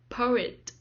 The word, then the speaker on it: poet: second syllable comedian comedian poet poet the stress is on the first syllable poet poet poem poem the